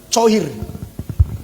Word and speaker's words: choir: Coir. Bacanya coir.